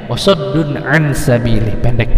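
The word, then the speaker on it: وَصَدٌّ عَن: Izhar ini dibacanya jelas sehingga tidak ada panjang, tidak ada eng, tidak ada dengung. Jadi baca apa adanya. Wasaddun an sabili, pendek ya.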